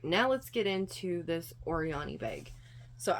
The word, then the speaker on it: Oryany: So I believe it's pronounced Oryany because when I've seen it written out, the O-R is small and then the Y-A-N-Y is large. So I think it's Oryany, but it may be Oryany.